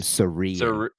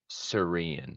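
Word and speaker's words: Cerean: too ear probably not it's spelled c e r e a n I'm gonna assume seran seran yeah I like that um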